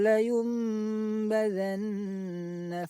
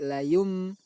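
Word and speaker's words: لَيُنْبَذَنَّ: Cara membacanya yaitu mengubah suara nun sukun menjadi mim. Dari layun menjadi layum. Lalu suara mim tersebut didengungkan. Layum.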